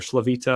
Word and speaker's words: Slavuta: I mean, if you got to think like, you know, for example, the Slavuta house, which is like the most or Slavita is how it's said in Yiddish.